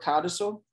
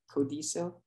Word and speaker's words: codicil: We're all familiar with this word codicil, not codicil, codicil, no.